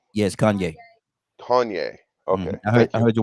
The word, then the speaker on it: Kanye: an example mm-hmm you know all the things Kion West did my my mispronouncing his name wrong yes Kanye Kanye okay I heard your wife in the